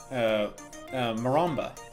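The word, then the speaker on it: marimba: drum set but some kind of drums xylophone Moranbah that's how you say it but I wouldn't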